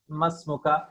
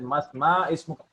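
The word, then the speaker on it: ما اسمك: Masmuka. See, masmuka. We are reading at ma ismuka. This is a common mistake. Ma ismuka. No, it is masmuka.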